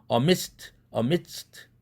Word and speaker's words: amidst: 그렇다 할지라도 드 사운드가 아니라 트 사운드로 비개방음을 해라. 그 이유는 뒤에 나와 있는 스가 무성음이니까 앞에 드에 영향을 미쳐서 amidst 이렇게 하라 이거죠.